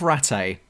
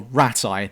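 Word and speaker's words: Rattay: you'll eventually reach the town of Rate, or Ratai, they keep pronouncing it differently.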